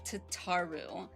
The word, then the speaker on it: Tataru: first end of Shadowbringers, Crow very clearly calls her Tataru. But in English, like English pronunciation and Japanese pronunciation could be different. Um, I haven't listened to the Japanese version. So, um, but no, I've always been calling it Tataru since I've heard the VA say it, but hello.